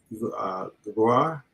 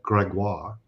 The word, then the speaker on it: Gregoire: You can also put a little French to it and call it Gregoire.